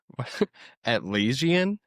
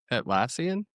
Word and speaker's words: Atlassian: Atllesian. How do you say it? Atlassian.